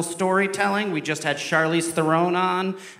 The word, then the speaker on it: Theron: Is it Theron or Theron? It's Throne in South African. Yeah. So it's like you can say Throne.